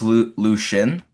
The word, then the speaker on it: Lucian: And yeah, Lucian, am I saying it right? Lucian? It's Lucian.